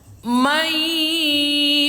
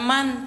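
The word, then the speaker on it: مَن: Ketika nun sukun berjumpa dengan ya, maka bunyinya may bukan man, Teman-teman. Tetapi may yaquulu tuh.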